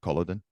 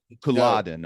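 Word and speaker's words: Culloden: the archaeological dig at Koladan? I haven't. Coladin I guess is how you say Coladin.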